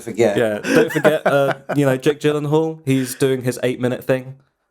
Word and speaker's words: Gyllenhaal: Jake Gyllenhaal. The correct pronunciation.